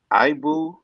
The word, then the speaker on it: Ibou: Ibu, his name is spelled IBOU, of Self-Made Pro reports